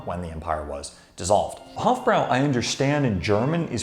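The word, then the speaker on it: Hofbräu: World War One when the empire was dissolved Hofbrau I understand in German is pronounced something like hofboy which is something that a couple of my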